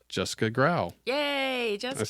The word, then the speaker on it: Graue: It's Jessica Graue. Yay, Jessica Graue.